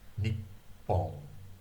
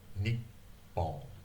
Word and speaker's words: Nippon: And the first P actually gets lost, but there's a stop there. Nippon. Nippon.